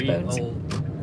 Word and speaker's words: Bones: 日本語はボンズだけど Oh, in Japanese it's Bonds, but maybe the English writing is Bones. B-O-N-E-S Bones.